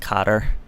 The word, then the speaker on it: Qatar: Persian Gulf state of Qatar actually I think it's pronounced Cotter Saudi Arabia Egypt the